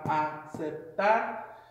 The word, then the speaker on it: aceptar: So you have aceptar. You kind of hear that the emphasis on the last syllable being syllable number one going from left to right.